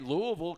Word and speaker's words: Louisville: doesn't work yeah no sir yeah all right Louisville Kentucky and we are pronouncing it right it's Louisville yes Louisville yes